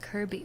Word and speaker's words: Kirkby: very cute very classic it's spelled Kirkby but pronounced Kirby why what why why